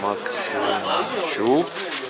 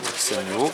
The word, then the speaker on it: Максимюк: майданчику можуть Іванківці відігратися Анатолій максичук Максимюк тут треба акуратно вимовляти то Максимюк Максимчук Максимюк з м'ячем шукає партне